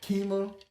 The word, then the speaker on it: Kemah: If you don't know, his name is Kemah. That's how you pronounce it.